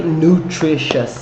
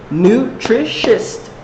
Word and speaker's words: nutritious: so the correct adjective we don't say nutritious is we say nutritious right three syllables Neutrik chest three syllables